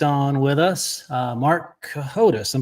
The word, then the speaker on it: Cohodes: Uh, Mark Cahotus. I'm pronouncing the last name correctly, right?